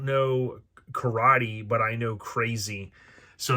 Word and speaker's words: KRZ: not but this is krz so crazy was kind of I guess how you would really pronounce it I always called it just krz so kind of a